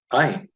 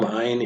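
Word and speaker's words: עין: At the bottom, Ayin is the second of two silent letters, along with the Aleph. Very important, because these, you'll have to memorize the name of them, but they don't make any sound.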